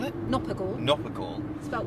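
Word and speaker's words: Knopper gall: Nopper gall. Spelled with a K.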